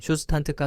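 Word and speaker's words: Zustand: 주스탠드는 굉장히 간단한 코드만으로도 쉽게 사용할 수 있는 리액트용 상태 관리 라이브러리입니다. 듀스탠드는 독일어로 상태라는 뜻을 갖고 있으며 그래서 발음도 정확히 하자면 슈스탄트가 됩니다.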